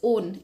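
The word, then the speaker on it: -one: suffix use करते हैं that is ओन इसे वन नहीं पढ़ते इसे क्या पढ़ते हैं ओन पढ़ते हैं वैसे स्पेलिंग वन की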